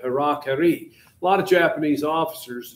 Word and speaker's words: harakiri: anyway, suicide, the harakiri, which Americans came home pronouncing it Harry Carey, but harakiri.